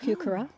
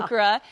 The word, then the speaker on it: heuchera: That's just a coral bell, heuchera. Man, this is so pretty. This is really just. It took me years to learn how to say it. Yeah, the Yeah. heuchera.